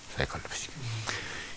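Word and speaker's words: psychology: 콜로지, 심리학 할 때 푸시케, 요 피가 묵음돼 가지고 이제 사이콜로지.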